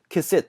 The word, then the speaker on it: cassette: 이 카세트를 보통 우리가 카세트 하는데 다음에 cassette 이렇게 들릴 겁니다. 이 발음을 한번 확인해 보시기 바랍니다.